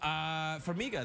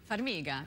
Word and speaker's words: Farmiga: So, Farmiga, that's Italian. Farmiga. Farmiga. It's Ukrainian. Ukrainian? Well, I'm Ukrainian of heritage, but it does sound Italian. It does sound Italian, Farmiga, but it's not Farmiga, it's Farmiga.